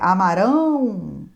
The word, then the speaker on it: amarão: amaram passado Amarão futuro Observe também a sílaba tônica amaram é amaram beberam partiram no futuro é Amarão beberão partirão modo subjuntivo presente do